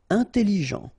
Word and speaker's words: intelligent: Intelligent. Final did not pronounce, so G-E-N, Jean, okay? Intelligent. Double L, it opens the pronunciation of your E, so it's E.